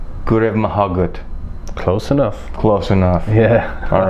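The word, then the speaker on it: go raibh maith agat: You say Gurev Mahagut. Gurev Mahagut.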